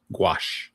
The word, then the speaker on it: gouache: ink, marker, acrylic, and you say, is that gaus? Is that how you pronounce that? Gouache.